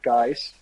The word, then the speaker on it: Gijs: with my name uh it's a very difficult name to pronounce uh both of you have roots in belgium so you understand it but it's a name that doesn't exist outside of dutch-speaking countries so it's uh guys that's how most people